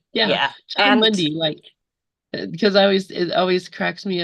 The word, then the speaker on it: Mundy: But he pronounces it Mundy.